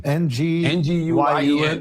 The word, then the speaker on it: Nguyen: These three individuals, Carson McCoy, another guy named Alex Ocha, and George Nguyen. How you pronounce it, Chris? It's Vietnamese name. Nguyen. Nguyen is the closest, yeah.